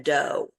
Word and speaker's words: dough: we call that a dough. A dough. And again, throughout has this O-U-G-H and a dough has a D-O-U-G-H, and dough and through are pronounced differently. Throughout and dough.